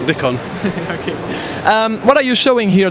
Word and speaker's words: Nikon: Nick own solutions manager it's pronounced Nick on what are you showing